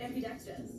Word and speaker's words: ambidextrous: Ambidextrous.